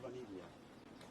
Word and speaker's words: Vaniglia: And you say your first last name, Vaniglia. can you spell it too?